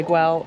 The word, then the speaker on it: Güell: here in Parkway um I've heard it say I've heard people say G I've heard way um way I believe is the catalonian pronunciation so that's what we're going to go with from now on Parkway